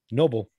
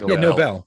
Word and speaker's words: Nobel: I believe it's pronounced Nobel, but yes. Yes, but you get that by the joke. No, I mean literally the way it's spelled, if you're reading it, Nobel. Like Alfred Nobel.